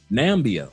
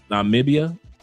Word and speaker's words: Namibia: Nambia, I hope I pronounced that correctly. Namibia.